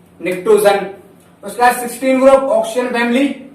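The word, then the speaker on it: Pnictogen: निक्टोजन, जिसमें P silent होता है आपका।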